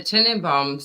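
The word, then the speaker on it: Tenenbaums: it is no but the Tenon bombs that's exactly how you pronounce it I love that Royal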